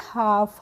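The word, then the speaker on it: half: एफ तो इसको हाल्फ पढ़ेंगे नहीं इसको पढ़ेंगे हाफ हाफ मींस होता है आधा तो यहां पर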